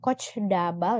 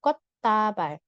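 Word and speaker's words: 꽃다발: kot tabal kot tabal bacanya bukan kocdabal ya tapi kot tabal kot artinya bunga tabal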